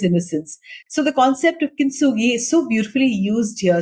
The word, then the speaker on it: Kintsugi: So let's talk about the final story, Kintsugi. Have I got the pronunciation right?